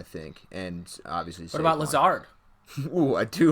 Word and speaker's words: Lazard: Yeah, like, the part where it should sound like lizard, like the second part in lizard, is spelled like lizard, but it doesn't sound like it.